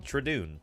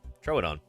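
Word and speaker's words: Troodon: you go tridoon everybody the famous mispronounced tridoon throw it on uh yeah there you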